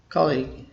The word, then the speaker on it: colleague: fourth one kali kotlik ue is not pronounced the actual pronunciation looks like this two syllables call link colleague that's correct let me